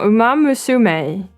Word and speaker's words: Umamusume: We got Let me try to say it right. Umamus. Umam No. Umamusume. Is that how she said it?